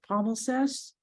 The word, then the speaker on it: palimpsest: And you know, I studied, I'm not sure if I'm able to pronounce it correctly, the palimpsest.